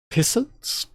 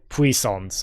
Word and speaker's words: puissance: Pissance? Was siphoned through fine stun gun. Puissance.